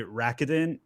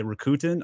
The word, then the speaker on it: Rakuten: way i actually don't know how this is pronounced i've i like i used to say rakitin but i think other people say rokuten i'm not really sure uh ichiba sellers i